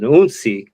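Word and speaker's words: hounsi: There's, the initiate of the house, which is referred to as an unsi. Again, spelled with an H, but the H is silent.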